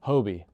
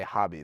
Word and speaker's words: Hoby: I I don't know why someone would say hobby though. That's that honestly that's the most common thing. Someone who reads it says hobby. More than Hobie.